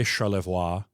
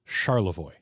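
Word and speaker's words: Charlevoix: So, I don't say Charvoiris because it is Charavoy.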